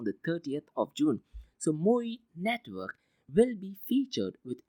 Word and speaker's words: MOOI: The next news is from Japan, and this is from a company called MOI, which is spelled as MOOI.